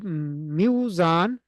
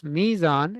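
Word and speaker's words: ميزان: So if Muzan is difficult to pronounce, Mizan is easy to pronounce, right?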